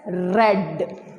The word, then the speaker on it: read: But we will write the same, but we will pronounce it as read.